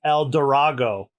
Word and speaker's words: El Drago: but his name is El Drago but I think uh but the Japanese pronunciation is if you pronounce his name in Japanese it's El dorago so uh oh like